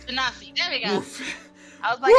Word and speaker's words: genasi: Janasi? Genasi, there we go. Oof. I was like, I don't know how to pronounce it.